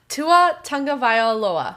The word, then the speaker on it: Tagovailoa: Tua Tagovailoa.